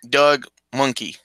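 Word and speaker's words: Mahnke: It's pronounced like monkey. Like It's Doug Monkey.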